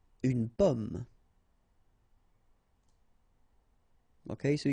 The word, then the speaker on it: pomme: Okay, so you can see that I pronounce them a little bit, a little bit differently, but then we'll be careful that in many cases people will pronounce them the same way, okay, because in that case normally it should be a bit lower, pomme, and then here more open, so pomme, okay.